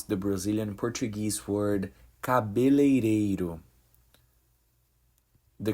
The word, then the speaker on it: cabeleireiro: Hey folks, this video will teach you how to pronounce the Brazilian Portuguese word cabeleireiro. The correct pronunciation is cabeleireiro.